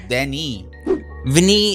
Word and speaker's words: Villeneuve: but they're very important am I saying his name wrong it's den den Vinnie V Vinnie it's Den it's not Vinnie directed D Vinnie no he's he's French it's Denny Vinnie it looks like he's